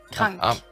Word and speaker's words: krank: Krank.